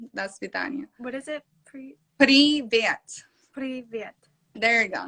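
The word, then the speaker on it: привет: Privet. Privet. There you go. You have to like roll your R's because us Russians, we use our R's really thick.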